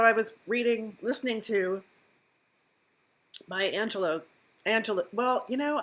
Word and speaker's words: Angelou: So I was listening to my Angelo. Well, you know, I say Angelou because that's how it's spelled, but it sounds like she's saying Angelo every time she says, so I'll have to figure that out.